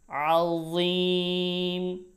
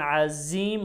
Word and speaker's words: عظيم: ওয়া, ওয়াও জবর ওয়া লাহুম, ওয়া লাহুম আযাবুন আযীম।